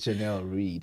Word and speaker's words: Jenelle Reid: It is Jenelle Reid It's okay.